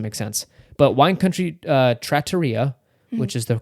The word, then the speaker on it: trattoria: But he says trattoria in the show, so I've confirmed this is the correct way of pronouncing it.